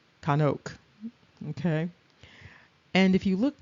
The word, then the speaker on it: Chanok: And so it's not enoch, it's kanuk.